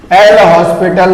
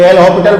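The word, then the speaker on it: L'Hôpital: और अगर ये 0 बाई 0 फॉर्म है तो आप लिखेंगे अप्लाई एल हॉस्पिटल रूल, ठीक है। कोई एल हॉस्पिटल पढ़ता है, कोई एल हॉस्पिटल पढ़ता है, तो एस साइलेंट रहता है।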